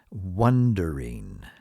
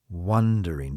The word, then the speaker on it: wondering: the same thing now some people have a difficult time pronouncing wondering wondering because there's another English word that is very close to it wandering wandering and wandering means walking